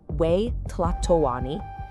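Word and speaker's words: Huey Tlatoani: The Aztecs called their emperor the Hi Platlani and that's pronounced we tatawani.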